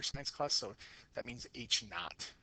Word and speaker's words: naught: class so that means h naught is how you say it not you know t not but n-a-u-g-h-t not so each not means